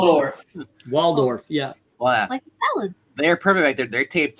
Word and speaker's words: Waldorf: damn it now I said it wrong WF Waldorf yeah they're perfect they're taped up y uh